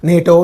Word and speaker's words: NATO: as words acronym Center for example NATO is there you you are not saying n you say nato for example this uh